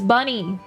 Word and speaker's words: Bunny: I'm 100% gonna forget and call it Boney. It's Bunny. It's like bear honey.